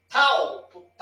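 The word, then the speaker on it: ταυ: E o tal, som de T, tal. Aí a pronúncia é assim, tal.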